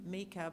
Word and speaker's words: Micah: So he's Gavriel Mika, and we named him Mika because that is how the Papuans pronounce Micah, as of the book of Micah in the Bible.